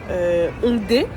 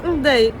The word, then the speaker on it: Hongdae: Par exemple Hongdae. Là vous dites, elle le prononce bien, il n'y a pas de souci. Ben non, si vous vous souvenez au début de l'épisode, j'ai dit Hongdae.